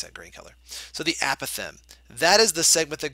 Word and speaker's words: apothem: The new part, and this is the important part, it's the apothem, okay, or apothem. It depends on how your teacher pronounced it. Mine pronounced it apothem.